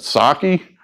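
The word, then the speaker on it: Psaki: going to circle back how do you pronounce that sake jen mr p silent well anyway i'm going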